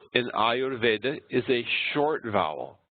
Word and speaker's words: Ayurveda: The U in Ayurveda is a short vowel. U is a short vowel, but it's followed by a consonant combination, the R plus V, and that makes it long. So it's Ayurveda.